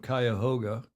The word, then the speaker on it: Cuyahoga: My pronunciation of Cuyahoga is apparently correct.